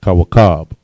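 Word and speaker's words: כוכב: And a star in Hebrew is kawakab. All right. Ka, wa, ka, ba. The ka and ba are connected. Kawakab.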